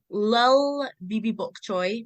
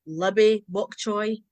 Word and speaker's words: lilbbybokchoy: So my Instagram and my TikTok is Lil Bibi Bok Choy, but it's spelled LILBBYBOKCHOY. It's not Libby Bok Choy.